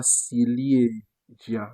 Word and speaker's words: ciliegia: Vous voyez qu'on ne dit pas ciliegia, non. On dit ciliegia. Pourquoi est-ce qu'on dit chi ici? Parce que vous voyez que le C est devant I, comme on a dit, on le prononce donc chi.